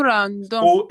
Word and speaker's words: rendons: Nous rendons. ONS.